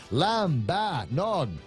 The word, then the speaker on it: lambanog: He says it's pronounced lambanog. Lambanog.